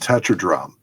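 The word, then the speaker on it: tetradrachm: you pronounce that word it's pronounced tetradrome tetradrome touch your drum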